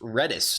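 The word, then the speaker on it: Redis: reddis it's apparently count it's apparently pronounced reddis not Reedus I always thought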